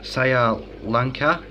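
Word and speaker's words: Sri Lanka: they originate from uh sa Lanka um is I think is the way you pronounce it um so generally they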